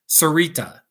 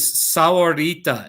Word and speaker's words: Sahuarita: of the word is sauerita it's the same word as saguaro except they're using an h instead of a g so it means ita